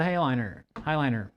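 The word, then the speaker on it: Heighliner: And then they're going to the Highliner. I always say that weird. I mean, it's spelled like hay, like nay.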